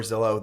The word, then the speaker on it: Zillow: When Zillow came online in 2007, everyone was like, what the heck does Zillow mean? It rhymes with pillow.